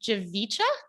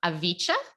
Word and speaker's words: Javicha: Well, it's a silent J, but Javicha's fine. Okay. So Avicha?